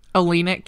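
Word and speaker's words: Oleynik: Olenek, yeah.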